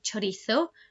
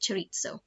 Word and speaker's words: chorizo: lot of something called you probably heard of chorizo or people here pronounce it chorizo um so this is a cured meat again